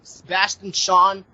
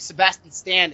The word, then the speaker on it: Sebastian Stan: Marvel I I don't like the idea of Sebastian Sean uh wait Sebastian Stan is that is that is that did I